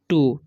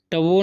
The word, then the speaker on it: two: अब देखिए TWO, तो इसे हम लोग पढ़ते हैं टू। ठीक है, टवो नहीं पढ़ना है, टू फ्रेंड्स।